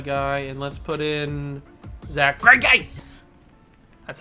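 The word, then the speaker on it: Zack Greinke: Alright, let's take out a guy and let's put in Zach Greinke.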